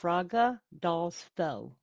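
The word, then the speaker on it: Fagradalsfjall: frogadis Bell is and it's pronounced Fraga dolls fell f-y-e-l-l so CL okay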